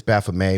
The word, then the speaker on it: Baphomet: it baphomet or baphomet it's it's baffled may but it's a french word so it's baphomet is